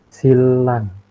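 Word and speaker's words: 신랑: Setiadi Mas D Halo tulisannya sinrang kira-kira kita bacanya gimana Yang benar itu silang Iya betul dibacanya adalah Lang apa yang berubah Mas Triadi di sini yang berubah nnya dibaca l Oke Kenapa karenanya bertemu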